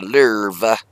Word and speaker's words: Lowe: lve I don't want they call it the lur I call it the low l o w e low but everybody pronounces it l Zer she's a bad ass